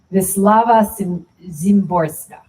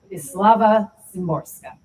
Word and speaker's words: Wisława Szymborska: Wisława Szymborska. Wisława Szymborska.